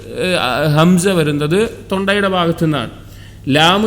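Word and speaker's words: لام: ലാം എന്നുള്ളത് വായുടെ ഭാഗത്തു നിന്നാണ്. വായുടെ അകത്തെ ഏറ്റവും കനത്തിൽ അല്ലെങ്കിൽ ഏറ്റവും ബുദ്ധിമുട്ടിൽ പറയുന്ന ഒരു വാക്കാണ് ലാം എന്നുള്ളത്, അല്ലെങ്കിൽ ഏറ്റവും ശക്തിയിൽ വരുന്ന.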